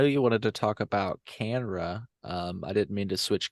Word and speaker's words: CANNRA: last topic because um, Canra sent a letter to the House And what Committee is on Canra Agriculture. for our So listeners? Canra is the Cannabis Regulators Association. It's spelled CANNRA, Canra.